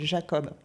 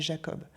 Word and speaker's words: Jacob: logique ben par exemple il y a un personnage qui s'appelle Jacob moi pour moi c'est Jacob elle le prononce Jacob et elle le prononce et on en a parlé et elle m'a dit et elle est Clodine elle est elle vient de Nouvelle-Calédonie elle m'a dit mais en Nouvelle-Calédonie on prononce Jacob donc elle s'est pas